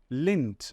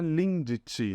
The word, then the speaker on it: Lindt: da cidade tá esse DT aqui no final a gente fala como se fosse um p apenas a gente não fala the tá então é igual aquela marca de chocolate Suíços né Lins a gente não fala Lindt né Igual o pessoal fala aqui no Brasil a gente fala lente